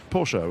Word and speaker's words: Porsche: a german accent then pronounce them porsche which is how the germans say it or you could say it porsche which is the sort of anglicization of it anyway the reason i'm